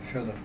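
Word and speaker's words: Фёдор: For the record, how is your first name pronounced? Федор.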